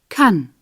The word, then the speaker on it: kann: In the singular, the vowel is an A, pronounced here a. Kann.